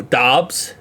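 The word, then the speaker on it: Doubs: surprised if Romeo uh is it dubs I know it's not what you think how to say it CU I I watch a lot of Tom grai Romeo dobs is the packing Packers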